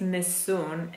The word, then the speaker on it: Nessun: and in this case miss Soong is pronounced exactly as we do well we speak and the stress is only you no no here we